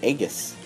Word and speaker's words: Aegis: I never knew how to pronounce it. I always pronounce it Aegis. And I heard someone pronounce it Aegis. And so I was like, I wonder how you pronounce it. I looked it up, and it's pronounced Aegis.